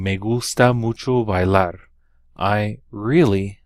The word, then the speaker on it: bailar: ski are to ski notice that I stressed that last syllable on these verbs bailar escuchar música practicar des